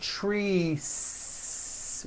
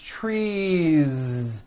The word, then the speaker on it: trees: It's not trees with an unvoiced S. It's trees with that voiced ending.